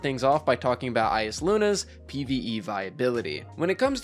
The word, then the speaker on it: Eyasluna: And I know that some people pronounce it Eyasluna, but I've always pronounced it Eyasluna my entire life, even when I was a kid playing D1, so we're going to call it Eyasluna today.